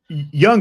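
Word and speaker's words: Jung: Uh Young, but I like your your semi soft J.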